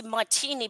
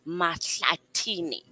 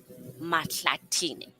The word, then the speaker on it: Matlatini: The correct pronunciation before all the Zimbabweans in my family get on me is Matlatini. Matlatini. That's the correct me.